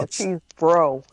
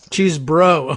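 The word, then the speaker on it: Chesebro: No, Cheesebro. Cheesebro. Oh, just bro. It's BRO at the end. Yeah, so that's true. Yeah. One syllable there.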